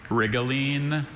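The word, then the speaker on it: rhigolene: Um, can can you say the pronunciations, please? Wrigleen.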